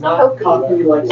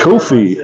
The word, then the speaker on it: Coffey: It's pronounced Coffey. Coffey.